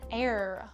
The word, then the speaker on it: heir: All right, and we were looking for what is an heir with a silent H.